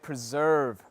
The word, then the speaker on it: preserve: to pronounce but uh the tricky part is the ending sound it's always the ending sound isn't it the v sound right preserve and and just that